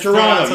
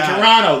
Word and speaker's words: Toronto: No one from Toronto says Toronto. You say Toronto. The T is silent.